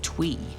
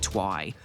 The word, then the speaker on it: Twi: The pronunciation of Twi'lek includes both Twi and Twi, with Filoni and Gilroy stating it depends on the side of the planet you're on.